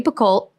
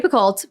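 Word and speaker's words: Picoult: think I saw a tick tock of Jody bacolt but actually it's apparently pronounced Pico which I never knew Jody picolt but she'll always be that to me sure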